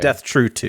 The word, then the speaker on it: Death (True)²: to say two I I've always called it death true two death true two because it Rhymes it's like poetry mhm so